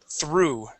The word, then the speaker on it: through: Okay, so this word we're going to practice the T, H, and R together. So through.